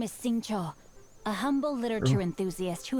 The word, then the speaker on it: Xingqiu: be passing by well I've been pronouncing his name wrong the entire time I've been saying since you but saying sure slight insulation uh difference since you and I